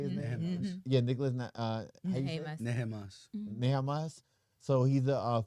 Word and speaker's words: Nehamas: Nehemas.